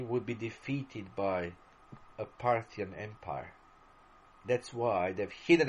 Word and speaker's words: Parthia: the kingdom of parsa Parthia Parsha how are you to pronounce it is probably the best pronunciation in English Parthia the kingdom of party